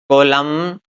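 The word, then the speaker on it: column: जैसे यहाँ एन से पहले क्या आ गया? एम। तो हमारा जो एन है वो क्या रहने वाला है? साइलेंट रहने वाला है। तो देखिए इसको बोलेंगे हम ऑटम, कोलम, सोलम, लिम, कॉन्जेम, हिम, डैम, गोडेम।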